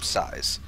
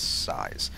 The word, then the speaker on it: sYz: up against blast size I believe he pronounces his name size I I don't think it's SZ or Sy yzm I'm 99.9% certain that it's size I might still be